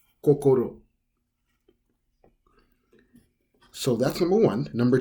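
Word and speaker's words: 心: say the word heart such as heart it's pronounced as kokoro kokoro so that's number one number two is painting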